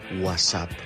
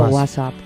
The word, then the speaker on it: WhatsApp: Yo digo WhatsApp. Hombre. Completamente. Yo lo siento mucho por este amigo italiano o que vive en Italia. No tengo tiempo para pronunciar esa T de en medio.